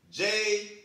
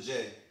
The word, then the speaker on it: Ja: My pick, Jay Morant. So, before I dive into Jay, or Ja, I should say, I don't want to mispronounce my man's name before he gets here.